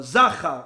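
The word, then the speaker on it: זָכָר: Although it's spelled exactly the same, the vowels, the nikud, are slightly different. Whereas Zecher, which means the memory of Amalek, has the 2 dots. Zachar has the little plus, upside down plus sign.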